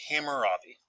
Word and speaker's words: Hammurabi: It's pronounced Hammurabi.